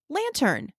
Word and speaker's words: lantern: The first part is LAN. We know that if a syllable ends with a consonant, the vowel makes a short vowel sound. So we would pronounce this LAN. The second part is TERN. We know the bossy R is in this part, so we would say turn. When we put it together, we get lantern.